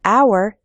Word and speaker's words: hour: We say a hat because hat starts with an h sound, but in the word hour, the h is silent, so we say an hour.